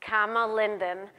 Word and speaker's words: Kama Linden: Amazon so welcome comma sorry I mispronounced your name it's comma Linden she's from New York